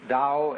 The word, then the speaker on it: Tao: nature is all the Dow t AO pronounced Dow in the Mandarin dialect Tao in the chung